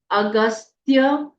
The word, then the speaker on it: अगस्त्य: स और य स्तत्रस्य अगस्त्य पूरा ग पूरा आधा स आधा त अगस्त्य ऋषिह ऋषिह अनुष्टुप अनुष्टुप